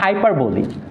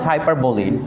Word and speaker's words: hyperbole: You have to pronounce হাইপারবোলি, নট হাইপারবোল।